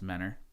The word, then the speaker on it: Mentor: I was born in Mentor Ohio it's actually pronounced Manor if you're from there we went to school in manner it's east side of Cleveland east side suburb